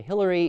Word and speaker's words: Hilaire: by Belloc, Hilaire Belloc, or some people say Hillary. It's a debate, nobody really knows. In fact, I know someone who wrote a poem about this guy's name, whether you should pronounce it Hilaire or Hillary. So even he didn't know. I don't know. I always say Hilaire.